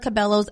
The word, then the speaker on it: Cabello: I guess, yeah, in Spanish it's cabello, but here in the U.S. they call her, I always hear Camila Cabello. Like, I always hear that.